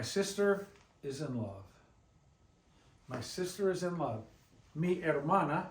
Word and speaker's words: hermana: You remember, we told you back with the alphabet, the H is always silent. You write it, but you don't say it, you don't pronounce it. Pretend like it's not even there when you pronounce it.